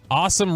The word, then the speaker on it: Asim: Asim or Awesome? Asim Richards? Awesome Richards is what the pronunciation guide from the NFL said.